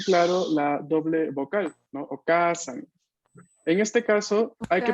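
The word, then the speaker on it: お母さん: O se escriben con dos vocales seguidas. Por ejemplo, tenemos el caso de las palabras con doble A, como okasan. Okasan.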